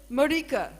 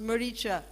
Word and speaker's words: Maricha: that suicide and then he said murica is how he pronounced maricha the demon who was